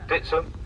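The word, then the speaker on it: Dittisham: look ahead you'll see the village of dittoshell locally pronounced as ditson named after the saxon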